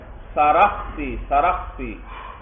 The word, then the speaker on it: سرخسی: دوسرا ذکر آیا امام سرخسی کا, یاد رکھنا اس لفظ کا تلفظ بھائی سین کے ساتھ ساتھ را پر بھی فتحہ ہے اور خا ساکن ہے, سرخسی سرخسی, امام سرخسی بھائی.